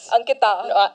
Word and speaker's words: Ankita: Know my name, right? Yes. Ankita. Yeah. Pronounced it right this time.